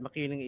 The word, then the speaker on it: Makiling: You got the latter one right, Makiling Esports. That's how you pronounce it in the Makiling, Philippines.